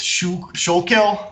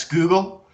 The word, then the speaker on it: Schuylkill: And then we have the New Sweden on the bottom left with Fort Christina, but that river that looks like it's Schuylkill, that's actually pronounced Schuylkill, and that's where Philadelphia is located, is right on the mouth of the Schuylkill.